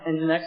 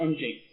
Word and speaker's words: nginx: and nginx is great pronounce engine x not engaged like my co-workers fast super fast it's